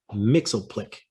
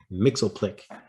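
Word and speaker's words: Mxyzptlk: the antics of mr mixel plick right i'm going with that pronunciation because that's what i found online mixel click everyone's favorite little imp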